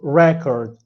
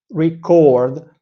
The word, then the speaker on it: record: the primary stress with the word record here we have in the first syllable an a sound and then in chord a chord aw sound so record but if we switch to record here we have in the first syllable Al e sound a sound e e